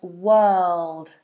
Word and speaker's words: world: you pronounce the word world this is the uh vow the letter box uh W world and you got that dark L world world good in